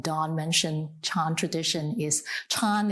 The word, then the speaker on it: Chan: mentioned Chan tradition is Chan is the Chinese Chinese pronunciation of the word zen that's more well-known here in America and also